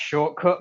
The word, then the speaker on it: Shotcut: I use a free software called Shotcut, or I think it's pronounced Shortcut, but it's spelt Shotcut.